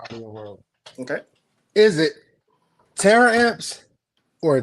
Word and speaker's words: Taramps: It is Taramps. Okay, Taramps. Not Taramps. I, terror amps. Not that's terror. what I call We don't believe in terror or it. Right. terrorists. So Taramps. it's pronounced Taramps.